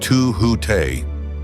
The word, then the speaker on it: Tahut: Th scribe of the gods, master of hidden measure, and Tahut, pronounced to hute, the guardian who walks unseen yet shapes the turning of destiny.